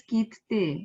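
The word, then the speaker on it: 切手: Double T is coming there. So I will not spell it as kitte. It will be kitte. So somewhere I'm compressing that double T and saying, so kitte.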